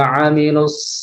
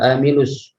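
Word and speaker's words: عَمِلُوا: Perlu diingat ketika hati-hati huruf hamzah dan huruf ain. Ya, jangan sampai kita membacanya illal ladzina amanu wa amilus. Ya. Padahal huruf ain dan huruf hamzah berbeda makhraj, meskipun sama-sama tenggorokan tapi letaknya berbeda.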